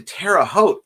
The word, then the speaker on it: Terre Haute: About to head to Terre Haute. It rhymes with boat, LOL.